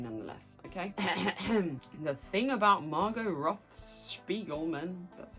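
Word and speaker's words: Margo Roth Spiegelman: The thing about Margot Roth-Spiegelman, that's how you say it, is that really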